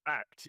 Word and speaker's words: ACT: right uh yeah like the official pronunciation is act yeah yeah that's right